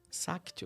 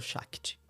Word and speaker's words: Shakti: Existe uma deusa indiana chamada Sakti ou Shakti. Depende daí como você vai pegar a pronúncia, de onde ela vem.